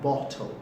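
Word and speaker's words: bottle: बोतल नहीं कहना बोतल, ये कहना बॉटल, बॉटल, बॉटल।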